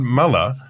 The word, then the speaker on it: Muller: on September 19 Todd Muller and only seconds after we've learned to pronounce his name correctly Todd meller has resigned as leader of